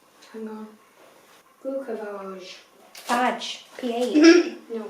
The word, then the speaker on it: Glucophage: It's spelled Phage, so it could be like phage, glucophage. Phage, he said. Glucophage. Anyway, sounds like fudge.